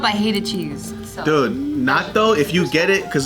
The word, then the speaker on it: natto: NATO. Natto, that's just the bomb, bro.